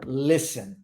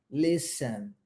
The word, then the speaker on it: listen: Então, first, you gotta listen. Reparem na pronúncia da palavra listen. Nós não pronunciamos a letra T, tá? Vai do S para o E. Listen, listen.